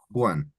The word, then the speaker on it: Juan: and Juan with the J with that H sound. Juan.